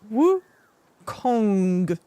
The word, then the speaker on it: Wukong: issue similar with Wukong they tend to elongate the ending too much making the O short and the N long which is which is incorrect the correct pronunciation should have a long o and short n g sound like should have a long o and a short wo Kong Kong woong I think